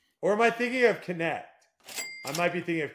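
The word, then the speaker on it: Knecht: You said Knight, but you said it wrong because it is. Yeah, it's Connect.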